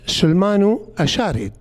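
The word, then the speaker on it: Shalmaneser: temple of asher shman Manessar was pronounced Sulmanu Asharid.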